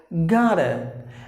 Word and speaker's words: gotta: So if you find the T in between the vowels, the T is pronounced like a D. So you have it as gotta.